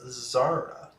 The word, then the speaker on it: Zara: a bit ago and it's pronounced Zara like Sarah Oh sarah sarah sarah